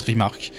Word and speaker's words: RMRK: ait rmr cas donc ça se prononce rimark rimark qu'est ce que c'est